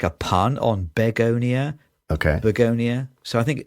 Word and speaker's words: Begonia: So I think it's supposed to be like a pun on begonia. Okay. Begonia. So I think maybe it is. You say it like the flower, but you spell it wrong.